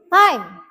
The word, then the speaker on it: time: What time? Bac bacanya bukan tim ya, tapi time. Time.